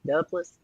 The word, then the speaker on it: Duplass: appreciate the pronunciation because I'm from Kentucky. Duplass.